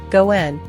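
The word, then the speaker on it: ご縁: are considered fortunate as the pronunciation of the coin's name Goen has the same sound as the term for luck if there is a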